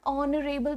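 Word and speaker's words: honorable: एन ऑनरेबल person, because H तो silent है, sound तो ओ की आ रही है ना, तो वावल साउंड के आगे लगता है एन.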